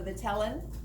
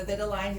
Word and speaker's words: vitelline: It has a membrane called the vitellin, or the vitelline, depending on who's pronouncing their syllables which way, called the vitelline membrane or fertilization membrane, all right?